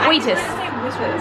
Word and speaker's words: Wheatus: Is it Wheatus? Okay, Wheatus. Wheatus. Like wheat. Yeah.